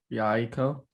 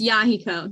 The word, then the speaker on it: Yahiko: Yaiko, Oh, it's Yahiko.